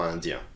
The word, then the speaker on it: indiens: To pluralize a nationality, simply add an S in writing that is never pronounced. For example, il est indien, ils sont indiens. Elle est espagnole, elles sont espagnoles. So you see, for both we added extra S, pronunciation is the same.